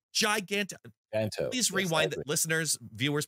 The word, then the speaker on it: Giganto: People pronounce it Giganto. I don't know. It's a pun on gigantic. It's Giganto.